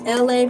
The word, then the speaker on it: Elay: My name is LA, pronounced like LA, like the city.